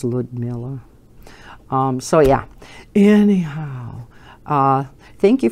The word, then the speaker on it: Liudmila: Liudmila, I think is how it's pronounced. Even though it's L-I-U, I think it's Liudmila.